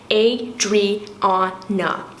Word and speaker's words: Adriana: Adriana, 4 syllables, Adriana, not Adriana, Audrey Hepburn, none of the above.